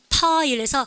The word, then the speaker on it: pile: 우리 반 발음교에서 근데 프 발음은요, 파일에서 가만히 있다가 푹 터지는 발음이죠. 발음을 갖다가 파일. 아셨죠? 근데 여러분들 요거하고 대조적으로 무슨 발음을 보통 얘기를 합니까? F 발음을 많이 우리의 혼돈을 주는데요. F 발음은 발음하실 때 아랫입술을 깨물 듯 말 듯, 안 되면 깨물어서도 하셔야 돼요. 발음가 file, 그죠?